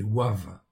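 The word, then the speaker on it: ו: place du V, okay, parce qu'en réalité, ça se prononce Oua. Hein. Okay. Donc c'est en fait, c'est pas le pronom, c'est pas le nom V en fait en réalité, okay, c'est Wav en réalité.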